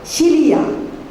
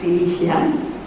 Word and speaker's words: philia: The second word is called philia. Philia means, you spell it P-H-I-L-I-A. Philia. It's not Felicia. It's philia.